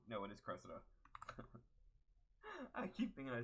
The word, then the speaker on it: Cressida: But, did I say her name wrong? No, it is Cressida.